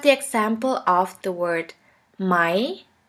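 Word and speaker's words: Mai: a E which is pronounced like the English word for I I here we have the example of the word my my which means the month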